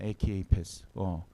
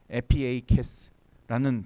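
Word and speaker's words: ἐπιεικής: 에키에이페스. 혹시 여기 그릭 읽을 수 있는 사람 있어요? 네. 여기 에의 이 파이처럼 생긴 게 원래 피 발음이에요. 에피에이케스라는 단어입니다.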